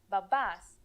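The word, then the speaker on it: μπαμπάς: need the word is babas let's write it why i said m no is the m silent say it again you don't pronounce it m if you notice that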